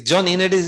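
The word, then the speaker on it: Ioannidis: the director here uh Johnny Unitas he he yeah it's a Greek name you know is John unit is the correct way of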